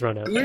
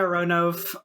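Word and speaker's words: Ronove: I was definitely a ronov until I realized that it's actually kind of important that his name is three syllables long yeah totally for what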